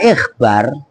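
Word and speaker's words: إخبار: Kalau kalian baca ikhbar itu masdar dari fi'il akhbaro ngerti membuat khabar. Tapi kalau kalian bacanya akhbar ya kan itu jamaknya ko khabar.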